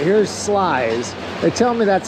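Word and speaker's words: Sluys: All right, here's Slice.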